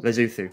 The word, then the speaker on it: Lesotho: You've got a concert and stuff in, how do you say it, Lesotho? Lesotho? Lesotho. Lesotho. I didn't know you would call it Lesotho either, but because it's written with O's.